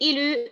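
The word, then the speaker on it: il eut: Regardez, j'écris je, E-U-S, E-U-S, tu, et ilu, E-U-T. J'écris E-U-T, mais je prononce ilu.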